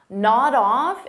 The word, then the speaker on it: nod off: Nod off is a phrasal verb, so we'll pronounce it as one word, nod off. So notice I'll take that D sound and I'll connect it on the off, but I have to combine it together.